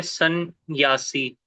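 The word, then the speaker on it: संन्यासी: प्रभु जी जब बोलते हैं सन्यासी, तो एक ही ना दो है प्रोनाउंसिएशन में ना, आ रहा है। दो है, आपने खुद दो उच्चारण किए, सन न्यासी, दो हो गए ना।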